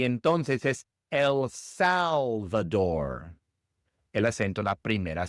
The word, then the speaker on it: El Salvador: Después tenemos El Salvador. En inglés El Salvador. El Salvador. Igual el acento va en la primera sílaba en Salvador y la r inglesa y no española.